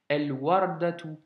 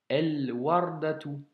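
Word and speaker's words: الوردة: Le Waw a une fatha, donc le A, mais pas de shedda. Donc, El Wardatu, El Wardatu.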